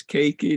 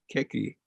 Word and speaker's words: keiki: and of course keiki you keep on mispronouncing KK so you can even know it's cakey not khaki uh it's a child